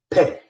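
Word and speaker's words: פה: Mouth in Hebrew is the word peh, just like the letter itself.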